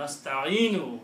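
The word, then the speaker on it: نستعين: Okay, so that is the meaning of Iyyaka nasta'inu. If you stop, you will not pronounce this wa, noon, dhamma on the noon. You will say nasta'in. Iyyaka na'budu wa iyyaka nasta'in.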